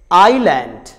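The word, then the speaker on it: island: अगर letter S से पहले आई आ जाए तो लेटर एस साइलेंट होता है. जैसे आइलैंड, आइलैंड.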